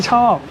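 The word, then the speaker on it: ชอบ: Chao kind of like c h o p or c h o a p.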